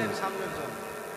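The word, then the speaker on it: بسم الله الرحمن الرحيم: আচ্ছা বলেন হুজুর বলেন বিসমিল্লাহির রাহমানির রাহিম হা এর উচ্চারণ আসে না হা শোনা যেতে হবে ওই পিছন থেকে র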